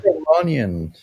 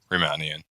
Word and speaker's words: Riemannian: Okay, because I know it's spelled like Riemanni, you know, something like It was invented by a guy named Bernard Riemann. Riemann, yes. Riemannian. Ah. It's spelled a little weird. So it's not Romanian, yeah.